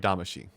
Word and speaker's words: Damacy: from the original katamari damashi i'm saying she because that's how they say it in the game it's the song that